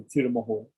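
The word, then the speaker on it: Thirumogur: Sometimes a K or a G can be pronounced like an H in Tamil. So Tirumukur.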